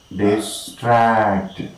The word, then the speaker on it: distract: The most important syllable is of course the second one. We say disarm, disband, discuss, disdain, dismay, disturb, disgrace, and disguise. So also we say distract.